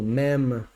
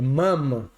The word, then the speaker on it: ma'am: pronúncia, igual aquela do ma'am, né? E o can, não, na verdade é mam, como van de ir, não uma van, do que ma'am como can, que é uma lata, C-A-N, né?